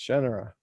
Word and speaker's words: Shannara: Everyone should know it was being pronounced Shannara. Why I believe it? Well, what you told me was you were like, well, I thought of it like Sha Na Na.